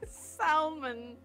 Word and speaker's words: salmon: I don't think he's interested in your salmon. Almond. Might as well pronounce the L in salmon.